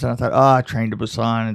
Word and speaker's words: Busan: Busan, yeah.